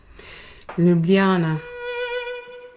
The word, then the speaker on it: Ljubljana: It's an old train ticket to How do you pronounce that? Ljubljana.